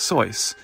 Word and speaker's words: Seuss: eventually begrudgingly accepted that most people were dead set on mispronouncing his middle name as it was spelled and so even he stopped referring to himself as soyce as it was meant to be pronounced and instead accepted that he was forever more to be known as Dr Seuss the year is 2003